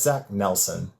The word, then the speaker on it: Zach Nelson: Yeah, it's Zach Nelson, just like Okay. it sounds.